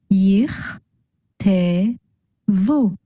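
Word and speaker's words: יִכְתְּבוּ: Putting it all together, we get yich, te, vu.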